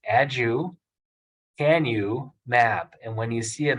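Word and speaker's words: aducanumab: there's a medicine called adukanamab and so the best way to break agricant about down is by breaking it into three syllables add you can you map and when you see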